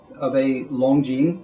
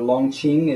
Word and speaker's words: Longjing: This is fairly typical of a Longjing or Longqing, as you may see in Longqing on some pronunciations, if it's non-Mandarin.